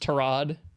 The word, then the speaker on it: Tyrod: Tyrod was coming back. Isn't it like pronounced Tarad? Yeah. We learned that via Hard Knocks.